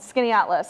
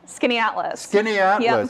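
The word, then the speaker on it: Skaneateles: tiny town in upstate new york uh called skinny atlas a lot of people haven't heard of it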